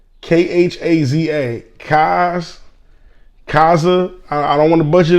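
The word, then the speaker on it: Khaza: to butcher the name but it's k-h-a-z-a cause kaza i don't want to butcher the name i'm sorry that's why i spelt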